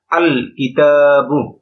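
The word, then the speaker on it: الكتاب: এখানে দেখেন কিতাবুন এটাকে যদি আলিফ লাম যোগে পড়ি আলিফ লাম যোগ কিতাবুন তাহলে উচ্চারণ হচ্ছে আল কিতাবু এখানে লামটা উচ্চারিত হচ্ছে লামটা এখানে উচ্চারিত হচ্ছে আল কিতাবু ঠিক অনুরূপভাবে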